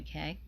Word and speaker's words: Cay: private island, the Disney Castaway Cay, or Key, depending on your pronunciation. I've seen it done both ways.